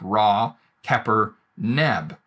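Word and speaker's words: Nebkheperure: And one thing you may notice is I read this as Neber-Keper-Ra. But if you look this up in your reference guide, you'll see that it sounds more like Ra, Keper, Neb.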